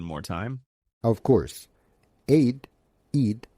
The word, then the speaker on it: Eid: Aid Eid like feed means festival or celebration.